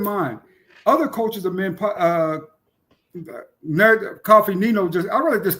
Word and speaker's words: Coffee: That's how we pronounce it. It's Coffee. Coffee Nino.